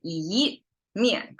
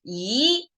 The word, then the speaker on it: 一: And 一面, okay, by itself, it's pronounced, our number 1 in Chinese, pronounced as 一. But because 一 is flat, and then right next to it is a falling tone.